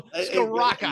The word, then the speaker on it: Scrocca: So there's no L there. It's Scrocca.